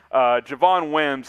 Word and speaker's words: Javon Wims: who that is uh his name rhymes with lavonne dims javon wims is not going to